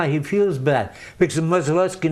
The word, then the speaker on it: Modzeleski: How do they say it? Modzeleski. Modzeleski. The right way. Okay, all right. Almost like the way you said. The way I said it initially, and I mispronounced. Yeah. Yeah, okay. Yeah, but, maybe in the back of my head, I knew the name. But Modzeleski is the way.